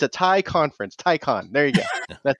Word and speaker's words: Taycan: Everyone says Taycan. It's tie, like you're wearing a tie, and then a con, like a conference for ties. It's a tie conference. Taycan.